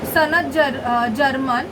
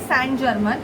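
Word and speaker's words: Saint Germain: सनत जर्मन, Karma releasing. Okay, तो सैंड जर्मन, it's actually सैंड जर्मन, इट्स a pronunciation सैंड जर्मन।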